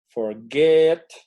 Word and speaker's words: forget: Y la otra forma es, pues, con el tiempo, vamos a ir ubicando que esto se pronuncia begin, forget. Ajá. Suenan fuerte el gin, get.